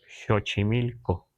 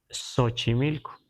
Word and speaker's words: Xochimilco: por ejemplo en ag debemos pronunciar chochimilco pero si vamos con el grueso de la gente lo vamos a escuchar sochimilco pero es muy fácil No es muy mucha diferencia No pero si escuchamos a alguien decir sochimilco no nos parece extraño porque ya está castellanizado pero la pronunciación mejor es chochimilco Y entonces debemos escribir